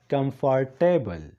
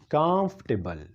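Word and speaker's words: comfortable: زیاتره خلک وایي کمفارټیبل، دا غلط تلفظ دی. او خلک ځکه وایي کمفارټیبل ځکه چې دا د سپیلنګ نه داسې ښکاري. کمفارټیبل نه دی، دا دی کامفټیبل. ما سره ووایه کامفټیبل، او دا ویل کېږي آرامده ته.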